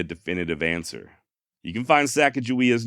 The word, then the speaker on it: Sacagawea: However, not a single one of those spellings is with a J, always with what appears to be a hard G. Guh. Furthermore, according to Meriwether Lewis, her name means bird woman in Hidatsa. And in the Hidatsa language, the proper way of saying bird woman is something along the lines of Sacagawea. Not Sacagawea, Sacagawea.